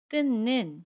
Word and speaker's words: 끊는: 그러면 끊는 이라고 발음합니다 첫번째 바침 미운 의 그대로 니은 으로 발음하고 요 두 번째 마침 히 웃은 아름 하지 않습니다 그리고 뒤에 오는 첫소리 자음 이은은 그대로 발음 에요 그래서 끊는 이라고 발음합니다 이번에는 격파 침이 우희